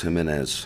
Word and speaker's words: Jimenez: Jimenez, maybe? Is that spelled close? Jimenez. He says Jimenez.